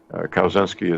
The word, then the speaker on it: Kaczynski: Kaczynski is spelled Kawczynski, phonetically, Kilo, Alpha, Whiskey, Charlie, Zebra, Yankee, November, Sierra, Kilo, India.